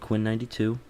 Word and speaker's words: Quinn XCII: It's by an artist called Quinn92. It's spelled Quinn XCII, and it is Sad Still.